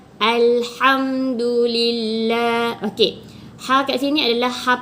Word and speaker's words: Alhamdulillah: salahe Ilir aja dilantunkan jadi itu adalah kesalahan dalam membaca perkataan Ilham do.the dengan melantun salah Tapi bacanya betul adalah Alhamdulillah Oke hack.exe ini adalah